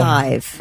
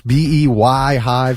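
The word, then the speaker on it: Beyhive: don't know and I thought it was be y Hive so I just thought but it's pronounced beehive okay whatever I don't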